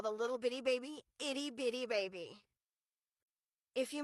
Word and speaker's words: Bitty Baby: Not itty bitty baby, not Betty Baby, but Bitty Baby. But what a wasted opportunity to call the little bitty baby Itty Bitty Baby.